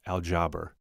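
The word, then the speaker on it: الجبر: When you look at the root of the word algebra, it comes from an old Arabic word pronounced aljabr.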